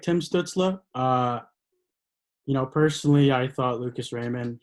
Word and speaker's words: Stützle: Stützle.